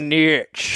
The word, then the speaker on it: niche: It's pronounced niche. Thomas is sounds. All right, here we go. Sounds like NEESH niche.